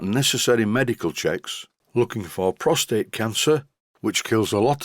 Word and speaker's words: prostate: you spell the word prostate so many people i speak to mispronounce this how do they pronounce it they pronounce it prostrate here's the word prostrate